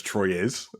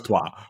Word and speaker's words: Troyes: In my head, I still pronounce it as Troyes. Just like I can't help it. I know it's Trois, but it's just That's so funny.